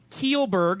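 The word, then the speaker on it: Kjellberg: yeah you're finding it here bro last year keel Burke is how you say his name you look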